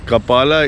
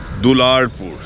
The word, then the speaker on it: Dularpur: still stands today but kapala is a very badly mispronounced word very badly mispronounced word the word is actually dularpur you could see you